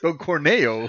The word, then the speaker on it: Corneo: Dude, there was a conversation of a husband pretty much pimping Don his wife Cornell, to say it right. Don Corneo or Don Corneo.